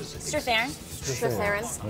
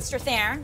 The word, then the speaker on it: Strathairn: Strathairn. David Strathairn.